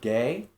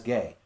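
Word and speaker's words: γῆ: Gamma eta, or gay, if you would pronounce it that way.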